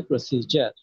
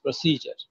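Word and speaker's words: procedure: right ঠিক তেমনিভাবে এখানে ডি ইউ আর আছে বলে আমরা ডিউর পড়তে হবে এমন কোন কথা নাই এটার উচ্চারণ হচ্ছে প্রসিজার এই শব্দটা আমরা বেশি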